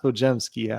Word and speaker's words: Podziemski: It's pronounced Podziemski, obviously, oddly enough.